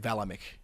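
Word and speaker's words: Vlaeminck: and strano and queensland i said vlamic i meant valamik i'm still coming to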